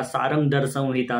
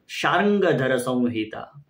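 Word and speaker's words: शार्ङ्गधर संहिता: मैं बोलता था सारंगधर संहिता, सारंगधर संहिता। वो अपभ्रंश शब्द से ही काम चला रहा था, परंतु सही उच्चारण है शार्ंगधर संहिता।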